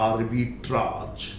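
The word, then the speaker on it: arbitrage: मध्यस्थता के लिए एक शब्द यूज होता है आर्बिट्राज, लेकिन अमेरिकन में से आर्बिट्रेज भी कहते हैं।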